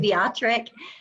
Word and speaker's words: Wiatrek: you're saying it correctly except I pronounce a W like a V and it makes it almost as hard to say as pseudomixoma. Um so I say it beatatric which just makes it